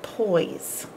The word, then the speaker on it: poise: by heart is that there is an e on the end of poise boy we can hear everything except the E you can't hear it and it's not doing its job capital p oy and then this is the part you gotta learn by heart this is e oise and this doesn't make any sound boys boys dancers ballet